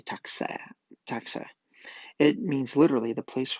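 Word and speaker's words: Taktser: Taksur is pronounced roughly Taxa.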